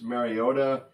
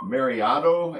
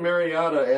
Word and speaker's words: Mariota: The Tennessee Titans quarterback, a fellow by the name of Marcus Mariota. Roger Goodell pronounced his name Mariotto at the NFL draft.